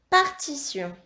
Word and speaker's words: partition: Dans partition, nous avons un T qui chante T et un T qui chante se.